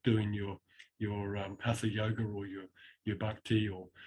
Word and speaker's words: Hatha: What do you think drew you to tantric yoga more so than, let's say, your generic vasana or hatha? Is it hatha?